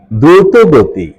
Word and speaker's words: দ্রুতগতি: সঠিক এবং শুদ্ধ উচ্চারণ হল দ্রুত গতি দ্রুতগতি ত এর সাথে অকারান্ত উচ্চারণ দ্রুতগতি 37 মূল শব্দ প্রতিলিপি